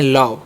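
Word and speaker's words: love: इसे हम पढ़ते हैं लव। क्या पढ़ते हैं? लव। ठीक है? इसे लोभ नहीं पढ़िएगा।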